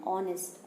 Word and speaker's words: honest: and honest also, because when we pronounce these two words, H is silent. That's why we use an before the words are and honest. अब देखिए जो are and honest words है वहाँ पे